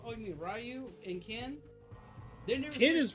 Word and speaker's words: Ken: Do you play with Ken or do you play with Ryu?"